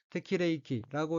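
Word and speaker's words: 適齢期: 셋째 줄 왼편의 어휘는 한자가 한국어로 정령기이고 각기 맞을 적, 나이령, 기약할 기자로 되어 있고 일본어로는 테키레이키라고 읽으며 테키레이키는 정령기, 특히 결혼 정령기를 뜻합니다.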